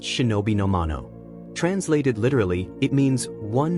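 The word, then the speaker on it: 忍の者: same Chinese characters that in classical Japanese were pronounced shinobi nomano.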